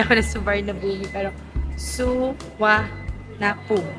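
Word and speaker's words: สุวรรณภูมิ: So dati suarnabumi ako ng suarnabumi pero suwa na poom. Suanapum ang tamang pronunciation.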